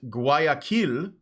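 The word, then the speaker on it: Guayaquil: a public conference at GUI Aquila which is actually how you pronounce it because yes Ecuador has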